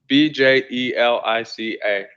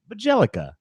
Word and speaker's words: Bjelica: Let's see if anyone can spell it here. BJELICA.